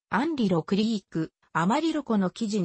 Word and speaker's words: アマリロ: いう説もある氏名はスペイン語由来ではあるが英語風にアマリロと発音されるグレートプレーンズ